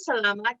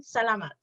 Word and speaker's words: salamat: Maraming salamat. Or just salamat. Salamat. Salamat. Salamat. Yes. like salami.